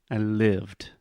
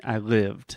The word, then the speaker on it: lived: perfect repeat with me I lived I lived I lived okay I lived the D is imaginary I live it yes the D is silent it's more like a t okay I believed okay